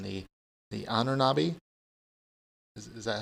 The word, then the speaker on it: Ahnenerbe: He has a segment of the SS, and you can correct me on the pronunciation, the Ahnenerbe? Is that how you say it? The Ahnenerbe. The Ahnenerbe, the Institute for...